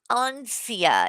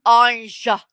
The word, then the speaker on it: Anja: Ansia. It's Anja. Practice it with me. Shani. Rev. Anja. Anja. Not Ansia.